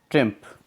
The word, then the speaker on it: triumph: और इसका एक मीनिंग और होता है, TRIUMPH, ट्रिम्फ, जिसको हम क्या बोलेंगे? ट्रिम्फ। ट्रिम्फ, ट्रिम्फ भी क्या होता है? विजय होती है। या इसका प्रोनाउंस ट्रायम्फ भी बोल सकते हैं हम, ट्रायम्फ, ट्रायम्फ भी बोल सकते हैं।